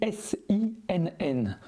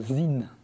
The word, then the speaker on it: Sinn: Vous pouvez bien sûr dire sin à la francophone, mais vous risquez de vous faire reprendre par un puriste. En allemand, les noms et les mots qui commencent par un S suivi d'une voyelle se prononce Z. La pronciation d'origine est donc zin.